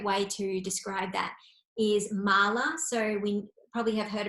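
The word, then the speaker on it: mālā: It's spelled M-A-L-A, but then if we say mala, M-A-L-A as well, but without this little line underneath one of the A's, it comes out as mala.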